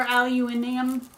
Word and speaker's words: aluminium: kind of wrapped in aluminum foil very tightly. Or aluminium. Aluminium, if you're saying it like you would in the UK.